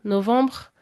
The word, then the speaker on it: novembre: Novembre, c'est pas une syllabe en tant que telle, c'est plus un relâchement et l'air qui circule dans un appareil qui est dans une certaine position qui fait qu'on entend ce son même s'il est très très atténué en fait.